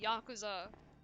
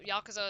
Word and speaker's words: Yakuza: too but it's like bro it's pronounced Yakuza oh yeah well yakaza is like the mafia so uh I I